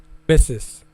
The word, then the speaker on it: Mrs.: So they said miss M RS is used for a married woman and it is pronounced as see Mrs. So it's Mrs.